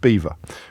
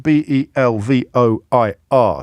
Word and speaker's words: Belvoir: exit otter may also Den in Hollow logs beavers build dams writes Tim in the veil of beaver which is pron which is spelled I often tell you about this stuff